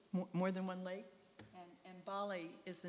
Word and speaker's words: Mbale: can just keep in mind that they're near Mbale, and that's how this is pronounced.